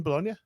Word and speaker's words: Bologna: Has it got a G in it? Bologna, yeah, but it's silent. How can it be silent? Because it's Italian.